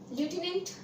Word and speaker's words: lieutenant: Actually में इट इज लेफ्टिनेंट general, but इन the spelling of लेफ्टिनेंट there is नो एफ is given.